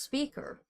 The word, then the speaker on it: Spiker: I think it was Spiker pronounced its speaker speaker huh and it's but it was kind of spelled the same yeah and I and